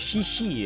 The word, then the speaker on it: Cici: she'll call herself as Sisi ya. So if it's me from a Caster's prespective ya C if it's on English would be pronounced as "Si" right? So it became Sisi, but I don't know deh